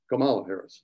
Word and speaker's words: Kamala Harris: this well kamala harris kamala harris that's how you pronounce it was a senator